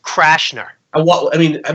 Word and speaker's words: Cashner: you were gonna say Cashner I thought that was the guy that you were gonna throw at me it's pronounced crash nur and what I mean